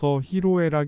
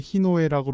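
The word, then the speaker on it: 희로애락: 사자성어로 히로 에라이 있습니다 히로 에라 한글로 표기할 때 히노애락 잘못 표기하는 경우 아주 많습니다 발음도 히로 에라이 하지 않고 보통 히노애락이라고 하는 것이 일반적입니다 그래서 더욱 히노에 락으로 잘못 알게 됩니다 일반인은 물론이고 신문 방송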